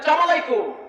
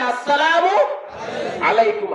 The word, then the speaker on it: আসসালামু আলাইকুম: আপনি যদি একজনকে বলেন সালাম আলাইকুম, আপনি যখন তোর সালাম আলাইকুম বলে তুই ঘরে গিয়ে ঘুমা বদমাইশ। সালাম দিতে হবে আসসালামু আলাইকুম হামজা আছে, সিন আছে, আইন আছে, উচ্চারণ করে লিখতে হবে, কারণ সালামের কথা কোরআনে আছে না নাই?